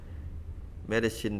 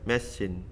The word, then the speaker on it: medicine: Medicine đọc là medicine các bạn ha.